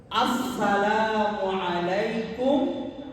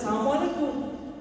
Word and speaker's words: আসসালামু আলাইকুম: আমি উচ্চারণ করছি। আপনারা খেয়াল করেন। আসসালামু আলাইকুম ওয়া রাহমাতুল্লাহি ওয়াবারাকাতুহ।